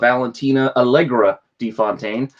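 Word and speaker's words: Valentina Allegra de Fontaine: Issue 6, which is that reveal of Valentina Allegra DeFontaine. Now I got the name right. I was saying it wrong in the last video.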